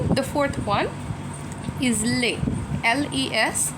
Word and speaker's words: les: Then, the fourth one is les, l e s. The s is silent, and we will just say les.